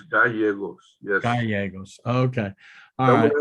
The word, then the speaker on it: Gallegos: Whenever you have two L's together, they're pronounced like a Y. Correct. Yes. So what's your client's name? Martha Gallegos. You're closer. It's Gallegos.